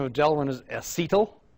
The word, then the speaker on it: acetal: The generic name of Delrin is acetal, sometimes pronounced acetal, spelled just like it sounds, A-C-E-T-A-L.